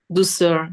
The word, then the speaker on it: douceur: I'm gonna try to pronounce it, but is it douceur or douceur? Douceur, yes, Douceur.